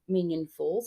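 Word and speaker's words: Minyon Falls: When we get to Minion Falls, and that's spelled Minyon, and go and have a look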